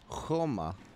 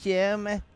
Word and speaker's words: Joma: Hur är det med uttalet? Joma, säger de i Spanien i alla fall. Joma. I Danmark säger de Joma. I Danmark säger man Jeme.